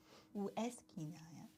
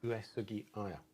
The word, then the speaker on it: Uesugi Aya: Uesugi Aya. Am I right there? Uesugi Aya. Ueskinaya. No, Uesugi Aya.